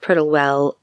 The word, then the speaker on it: Prittlewell: Reed had set up this meeting with Florence in, I think it's pronounced Prittlewell, a village near Southend.